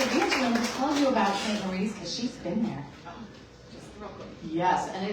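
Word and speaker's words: St. Maries: Yes, and it looks like it is pronounced St. Marie's, and yet inside Young Living, everybody says St. Mary's. So I do not know why, because it does look like Marie to me.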